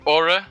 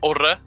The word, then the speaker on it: Ore: Is it Ore or how do I say your name, mate, first of all? I mean, it's Ore. Like, if I were to pronounce it in Swedish, it's Ore.